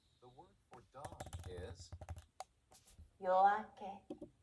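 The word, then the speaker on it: 夜明け: Studio Yoake pronunciation. Okay, now wait. Japanese Yoake. Let's hear it together. The word for dawn is Yoake. Yoake.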